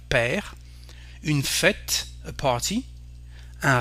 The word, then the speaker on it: père: Un père, a father, R, as you can see, and we don't pronounce the final E, so we have père.